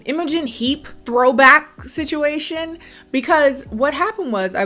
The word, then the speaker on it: Imogen: so ago i went on a whole like immugan imogen how do you pronounce that name imogen heap throwback situation because what happened was i